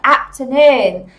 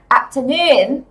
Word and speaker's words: afternoon: Bình thường cô thấy các bạn hay đọc là afternoon. Các bạn hay nhấn trọng âm và âm tiết đầu tiên, nhưng mà không nha. Âm tiết số 3, nè, afternoon. Afternoon.